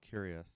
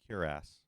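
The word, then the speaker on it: cuirass: armor this is nightstone curious nightstone curas I keep saying curious I have to I have to force myself to pronounce it properly Cass hey clink 5%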